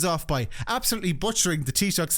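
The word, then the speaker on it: Taoiseach: And uh I guess let's start with the lunchon where Trump kicked things off by absolutely butchering the Tishuk's name in a way that suggests he has never once spoken to an Irish person.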